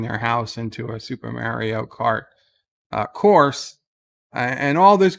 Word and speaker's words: Mario: him constructive criticism that the name is pronounced mario anybody named mario can tell you their name is mario their mother didn't call